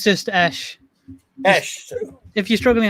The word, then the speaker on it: Esh: Esh. If you're struggling how to say it, just say Sesh, but without the S. I gotcha. Esh, thank you for being here.